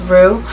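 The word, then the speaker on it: Roux: she used the um rux pronounced Rue uh paracity and pH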